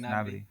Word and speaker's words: Gnabry: Nabry. Yes, Gnabry. They got Nabry. They got Adeyemi. I believe that's how it's pronounced.